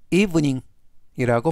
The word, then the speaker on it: evening: 이번 단어는 이닝 이닝 이브닝이라고 발음하시면 되겠고요 이때 강세는 맨 앞에 있는 알파벳 2에 강세가 있습니다 품사는 명사 뜻은 저녁이라는